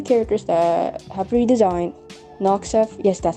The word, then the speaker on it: Noxeth: Noxeth, yes, that's how you pronounce* his name, and Solarius.